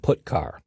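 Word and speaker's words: putchar: character io functions are get car and put car that's how I pronounce them get car fetches a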